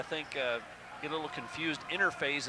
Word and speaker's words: Innerphase: Interphase is INNERPHASE. It's just pronounced interphase.